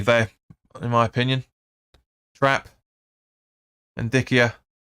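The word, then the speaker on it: Ndicka: Ndikia. Or Indica, I should say. Indica, I think you pronounce that.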